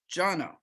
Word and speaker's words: Jono: introduce jono and remember his name is pronounced jono and he's going to be speaking about more